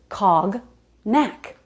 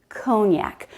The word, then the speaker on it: cognac: why she thought that look at the letters cog neck but it's cognac cognac cognac is a very